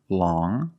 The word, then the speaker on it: long: First, we see long with the sound which is a nasal sound. Long.